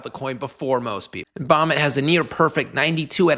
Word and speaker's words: BOMET: So after crash landing on Earth, Bomit, which rhymes with Comet, pretty clever.